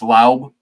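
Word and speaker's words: Laube: Pronounced Laub is my guy.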